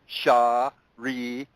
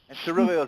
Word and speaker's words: Siriliel: Now, a four-syllable one, Siriliel, okay? She's 4 syllables. Standard is 3, okay? Allfaaraa, Allfaaraa, Allfaaraa, Shawnee Clark, and Siriliel is also 4 syllables, okay?